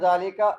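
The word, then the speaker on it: ذلك: Zalika, we don't write alif, but we read the alif like this.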